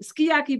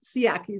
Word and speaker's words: Sciaky: You might say Sciaky, but I know it's Sciaky.